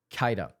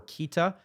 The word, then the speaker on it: Keita: Saiyan Kaida, I believe is how you pronounce his name. Again, I'm only I'm saying Kaida instead of Kea or Kita because of what I've heard from the play-by-play announcers who are actually calling the games.